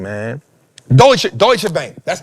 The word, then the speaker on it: Deutsche: Deutsche, Deutsche Bank, that's how you say it.